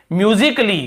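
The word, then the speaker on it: musically: तो देखिए यदि ए के बाद डबल एल वाई आता है तो ए को हम नहीं पढ़ते हैं, साइलेंट होता है ना, उसे हम नहीं पढ़ते हैं।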